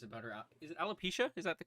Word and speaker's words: alopecia: public for years about her out is it alopecia is that the correct way to pronounce it yeah alopecia to my knowledge and and how she struggled